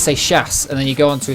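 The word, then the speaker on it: Seixas: they can call Paul sex ass Paul sex assass and they don't have to try saying seas. It's French. It's pronounced say shass.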